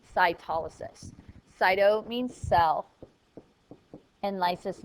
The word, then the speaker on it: cytolysis: animal cells rupture or lice this is called cyto Lis but it's pronounced cytolysis cyto means cell and Lis means to rupture